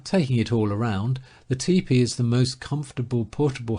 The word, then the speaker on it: tepee: and that is the Indian lodge or tepee pronounced TP and even it is